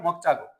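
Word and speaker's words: 먹자고: सिधै के त मकचागो चागो है जागो नभएर उच्चारण गर्दा मक चागो मक चागो है मक चागो के त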